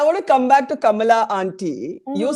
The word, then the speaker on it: Kamala: name properly even she has stopped saying kamla now she calls herself Kamala dud it makes no